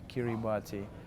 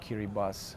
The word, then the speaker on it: Kiribati: It's a little things what you see, for example, when the high tide comes to Kiribati, or Kiribati, how they pronounced the right name of this country.